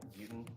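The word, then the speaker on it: Beauton: Please state your name and spell it for the record. Buten Jr., last name B-E-A-U-T-O-N. And your affiliation? I'm a sergeant with the Connecticut State Police. Sergeant Buten, you may be seated.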